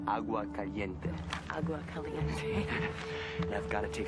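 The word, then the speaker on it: Agua Caliente: were sacred to the AUA calente Indians it's pronounced AUA Cente and I've got to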